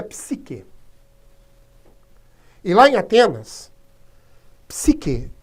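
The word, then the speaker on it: ψυχή: um corpo de ferro a palavra alma em grego e ela se pronuncia psique a ivânia temas sik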